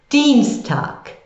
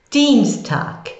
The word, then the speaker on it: Dienstag: Dienstag. Dienstag. There's you have your D-I-E sound again. You can get that again.